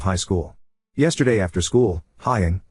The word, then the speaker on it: Haiying: Yesterday after school, Haiying, pronounced Haiying, came up to me and my wife and showed me her school pictures, both her individual photo and her group/grade photo.